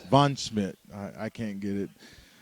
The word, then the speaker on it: Von Schmidt: How do you pronounce it? That's Von Schmidt. Von Schmidt.